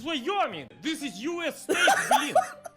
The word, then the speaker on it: Wyoming: He say, Boris, how do you pronounce this? And of course I said, Vyoming. And he say, no. It's Wyoming.